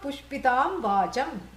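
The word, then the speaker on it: पुष्पितां वाचम्: Yamimam pushpitam vacham. Flowery speech. That's how you say it. Pushpam means flower. Pushpitam vacham.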